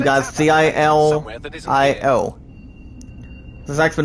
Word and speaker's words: Gilio: That's pronounced as the last name, guys, Gilio.